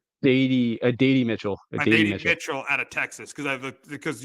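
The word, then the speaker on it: Adonai Mitchell: I asked you for the show how to pronounce his name. It's Adady Mitchell.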